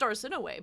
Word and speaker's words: Arsinoe: It's pronounced Arsinoe, but whatever you need.